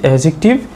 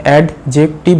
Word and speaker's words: অ্যাডজেক্টিভ: চ্যাপ্টারে কি শিখেছি যে এডজেক্টিভ নাউন কে কোয়ালিফাই করে আর এডজেক্টিভের প্রোনাউন্সিয়েশন অ্যাডজেক্টিভ নয় ডি উচ্চারণ হবে না এডজেক্টিভ এডজেক্টিভ ক্লিয়ার এটা আমি এডজেক্টিভের